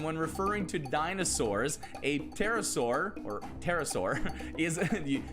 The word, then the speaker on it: pterosaur: referring to dinosaurs a pterosaur or pterosaur is the the p is silent uh is the name